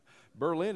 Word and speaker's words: Berlin: And they ask us to pray as they follow up with a specific congregation in Berlin, where I'm from, Amish country, pronounced Berlin, Ohio. Berlin in Germany, however.